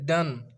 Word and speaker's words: Donne: Name था उसका pronounce as if spelled डन, क्योंकि उसका फादर था आयरन मॉन्गर था और उसकी मदर थी वो डॉटर ऑफ जॉन हेवुड की थी।